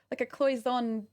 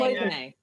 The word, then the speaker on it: Cloisonné: it almost looks like a cloison pin, like that enameling. Cloisonné. Yeah. Oh, is that how you say it? Yeah, I've never said it out loud.